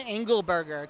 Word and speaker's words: Angleberger: overthinking it and we are talking to Tommy angle burger Tom how are you doing I'm doing great and you pronounce my name right this guy be practicing